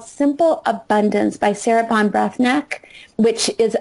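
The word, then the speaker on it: Breathnach: Brath neck which is a difficult word to say but very easy to spell it's Sarah Von Brath neck which is b r e a t h n a c h Simple Abundance and you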